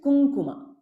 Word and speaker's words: kumkuma: the Makara Kum but according to the rule of this nasal sound and v v rule it is kunguma like ink pink right kunguma asanga we